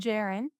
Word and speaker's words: Jaren: Any streaming platform at The Band Jaron. And Jaron is spelled like Karen with a J.